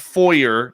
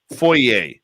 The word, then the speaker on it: foyer: how to pronounce foyer it's not foyer that's the american way foyer foyer is the american